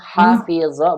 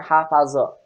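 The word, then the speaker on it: حفظ: Ini perhatikan ya, dibacanya hafizo bukan hafazo. Karena sebagian fiil itu ada yang tengahnya kasroh ya.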